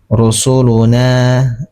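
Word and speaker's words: رُسُلُنَا: Nah, mad thobi ingat bacaan atau hukum bacaan ee dia dibacanya dua harakat. Kenapa? Karena ada fathah bertemu alif sukun. Rusuluna na. Cara mengambil paling gampang cara mengambil ee mad thabii itu diayunkan rusuluna na seperti itu.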